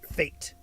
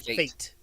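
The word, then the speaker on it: fête: Fate. FAT. Fate. F8. We have It's spelled Fe T E, but it's pronounced F long a T. Fate.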